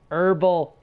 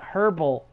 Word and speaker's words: herbal: Herbal tea. Not herbal. Herbal.